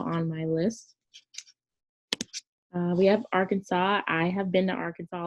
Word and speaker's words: Arkansas: And it's not Arkansas. America explain. I've seen that line. But it's Arkansas.